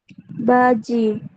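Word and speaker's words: 바지: Baji. Oke, betul ya. Di situ dibacanya adalah ba, kemudian diakhiri dengan ji.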